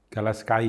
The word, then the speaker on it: Gala Sky: Jadi Galaski ya, bacanya apa ya? Galaski ya. Galaskai ya.